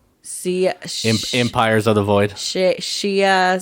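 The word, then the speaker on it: Xia: empires of the void shia sia and whatever if you're it should be shia because that's the chinese pronunciation of x but whatever it should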